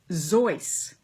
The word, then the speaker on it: Seuss: is that his name soos in barbarian which is he was from barferia which was part of part of germany was actually officially pronounced zoice wouldn't it be would